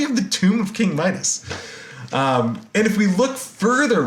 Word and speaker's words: Midas: There actually is a King Midas whose name would have pronounced something like Mita in ancient Phrygian.